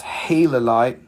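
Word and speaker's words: gilalite: or tomorrow i'm available this is gila lite pronounced halo light it's another really rare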